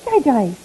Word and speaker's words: DiGize: It is digize. Somebody corrected me and I thought, my gosh, I think for 7 years I've been saying it wrong.